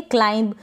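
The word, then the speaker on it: climb: क्लाइम पढ़े क्या पढ़ेंगे क्लाइम क्लिम ना पढ़े यहां पर बी का उच्चारण नहीं हो रहा है इसको क्लिम ना पढ़े क्लाइम पढ़े और ये जो एम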